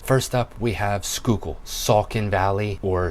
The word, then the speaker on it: Saucon: to talk about is the way that we pronounce things. First up, we have Schuylkill, Saucon Valley, or Sycon if you're not from here.